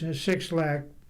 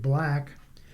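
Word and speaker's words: 6LACK: The resulting album sees Sixlack, he pronounces it Black, taking accountability in his personal relationships as a major theme.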